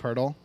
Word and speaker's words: Pirtle: His name's Jakob Pirtle, and so they made a game called Pirtle because it rhymes with Wordle, and it's a Wordle for NBA players.